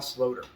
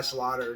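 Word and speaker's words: Sloter: back then um Kyle slowder I used to call Kai Slaughter until I figured oh that's not how you pronounce it I personally I like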